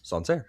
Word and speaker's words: Sancerre: Like, you're not unsure about how to pronounce it if you speak English as a first language. It's Sancerre. Okay.